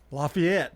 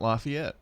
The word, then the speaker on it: Lafayette: Lafayette Street. Lafayette. Not Lafayette.